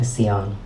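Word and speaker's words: Siân: grandma is with me I'm named after her and she would pronounce it this way so I pronounce it asean I want to start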